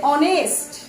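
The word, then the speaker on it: honest: আর অ দিয়ে হলে তখন হবে অনেস্ট, তখন হবে এন, অ্যান অনেস্ট ম্যান।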